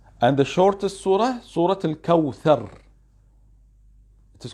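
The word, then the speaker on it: الكوثر: Please, my children, you should write Al-Kawthar, not Kawsar. It is not Kawsar. It is Kawthar. It is Tha. When you pronounce the letter Tha, we should see your tongue.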